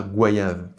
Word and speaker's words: goyave: Et si l'on prend des formes similaires en français, O-Y-A, on dit voyage et non voyage. Noyau, noyade, nettoyage, loyal. Donc pourquoi pas goyave?